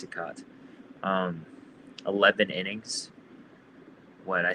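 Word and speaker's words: Cicotte: Um, I'm gonna butcher his the pronunciation of his name, but it was Eddie uh Eddie Plank and Eddie Sikat or Chicat. I think it's Sikat.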